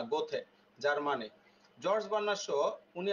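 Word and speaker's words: Goethe: একজন কি বিখ্যাত কবি উচ্চারণ কি দেখছেন গোয়েথ এরকম না গোথে জার্মানি জর্জ বার্নার সহ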